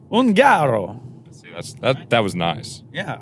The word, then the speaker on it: Ungaro: Is that why you have the fancy last name that I can't pronounce? Ungaro.